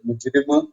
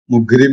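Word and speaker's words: مجرم: ഈ വാക്കെന്നാണ് അതിന്റെ ഒരു പക്ഷേ ഈജിപ്ഷ്യൻ ഉച്ചാരണത്തിൽ നിന്നാണ് മുഗ്രിം എന്നാണ് ഈ ഈജിപ്ഷ്യൻസ് അത് പറയാം.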